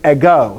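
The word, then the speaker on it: ἐγώ: okay but this goes a go so here we go i go not eggo that's a waffle a go is i in greek all right and then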